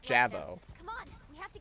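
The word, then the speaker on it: J'avo: platoon is one of those now uh it's pronounced javo come on we have to get out of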